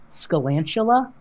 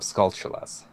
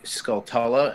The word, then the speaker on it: Skulltula: my high school who used to pronounce it Scalantula. Huh? Yeah, like there's no A in the like. And see, I've always called them Skulltulas. That's how I used to say it, Skulltula. Understandable, incorrect way of saying.